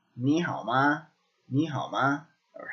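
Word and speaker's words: 吗: Okay, so this is pronounced ma.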